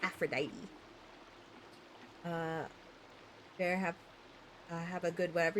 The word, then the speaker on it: Aphrodite: Not gonna lie, I always thought it was pronounced Aphrodite with the silent E at the end. Fair enough. It's Aphrodite.